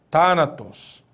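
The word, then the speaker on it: θάνατος: Mas onde que está o acento em Thanatos? Veja, o acento em Thanatos vai surgir exatamente aqui, ó. Na antepenúltima sílaba, né? Temos aqui tá, na, tos. Então, onde está o acento? Está na antepenúltima sílaba. É uma proparoxítona, né?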